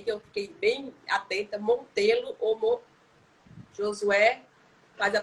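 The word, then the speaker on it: Montello: Montelo ou Josué? Faz a pronúncia aí, Chico, para não fazer a pronúncia errada. Montelo.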